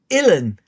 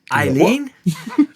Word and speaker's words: Ellen: And she said, Illan. I said, Eileen? And she goes, no, Illan. Illan.